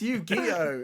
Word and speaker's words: Yu-Gi-Oh: It's Yu-Gi-Oh. It's Yu-Gi-Oh. Yu-Gi-Oh. No, That's how you pronounce No, it.